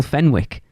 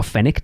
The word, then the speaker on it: Fenwick: of his life n Fenwick or fenick depending on how you pronounce it but can you tell